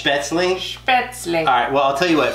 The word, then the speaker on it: Spätzle: we made it wrong and that I was pronouncing it wrong I'm sorry okay so I looked it up and it's spits me it's Beth's leash well I'll tell you what for everyone who